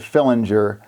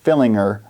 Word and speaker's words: Fillinger: fillinger that's how uh so the media pronounces it philinger coach Witt pronounces it fillinger and so I think wit probably knows how to pronounce it so we'll go with that but he announced that